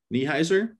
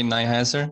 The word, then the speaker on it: Neiheiser: and aggregation by niehauser my name is nyhaser so a slightly different pronunciation but um even people